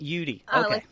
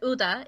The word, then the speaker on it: Uhde: last name it's pronounced yudi yudi yeah like the letters u and d uh it's it's German and you could pronounce it UDA if you're if you're